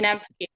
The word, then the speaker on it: Janevski: Your dad says, if I pronounce his surname correctly, Steve Janv Janvski, is that correct? Janvki.